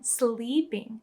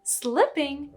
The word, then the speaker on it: slipping: pronunciation of this word if you pronounce it e instead of e people will think you're saying sleeping which is a totally different word so remember slipping not sleeping and that girl Bianca